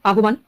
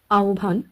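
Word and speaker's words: আহ্বান: এটার উচ্চারণ কি হবে আহবান তৃতীয়টি যদি দেখি গয় বয়র গহবর তাইতো কিন্তু না এগুলির উচ্চারণ একটু অন্যরকম হবে এখানে সঠিক উচ্চারণটি হয়ে যাবে জিউভা আওভান এবং গভর কোন পদ্ধতিতে এই শব্দগুলির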